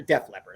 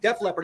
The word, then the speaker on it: Def Leppard: Leppard after after a Death Leopard I said it wrong Def Leppard after a show they